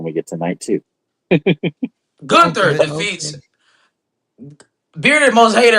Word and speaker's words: Gunther: It's not Gunther. Y'all steady pronouncing the man name wrong. It's Gunther.